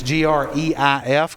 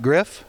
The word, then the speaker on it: Greif: July the 28th, and it's GREIF, Griff, I guess? Greif. I knew I'd mispronounced that.